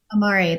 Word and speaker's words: Amare: team builder in 50 countries with, is it pronounced Amare? Amare, that's right.